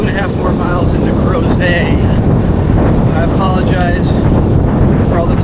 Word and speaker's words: Crozet: 1/2 more miles into crows I apologize for all the times I have mispronounced and probably will mispronounce cros as grette the t is silent like it's a French word and where are we